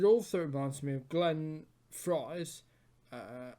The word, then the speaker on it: Frey: reminds me of Glenn Frey's uh I know it's spelled afraid but it's Glenn Frey blood fries the Heat